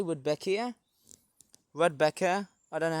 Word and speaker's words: Rudbeckia: I would say Rudbeckia. Rudbeckia, I don't know how you pronounce it. Almost sounds like Rebecca, but it's Rudbeckia.